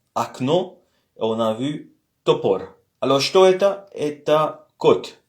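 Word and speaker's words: топор: Comme je vous ai dit, l'accent est sur le premier O, le deuxième O est prononcé comme un A faible.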